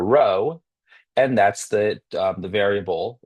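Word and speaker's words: rho: R H O and pronounced row kind of like row row row your boat.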